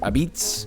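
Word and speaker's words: apizza: Number 29, Connecticut, which they call this New Haven pizza, but they also pronounce it Abitz.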